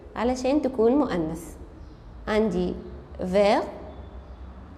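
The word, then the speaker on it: vert: عندي فير فيرت كمان بلو بتبقى بلو بضيف لها لتر أ لكن مش بيتغير نطقها.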